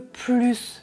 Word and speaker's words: plus: je voudrais un peu plus d'eau », c'est la règle numéro 1 de la partie 2. C'est une quantité positive, phrase affirmative, donc je prononce le S à la fin du mot plus.